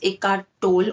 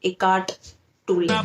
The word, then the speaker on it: Eckhart Tolle: Now, a lot of people pronounce him as Eckhart Tolle or Eckhart Tolle, but actually it is Eckhart Tolle.